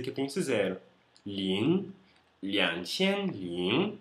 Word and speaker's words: 零: Zero é lin, L-I-N-G no segundo tom. Lin.